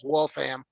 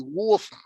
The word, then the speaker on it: Waltham: Well, around here these days, this generation says Wolfham. Yeah, But if okay. you were English, it'd be Wolfham.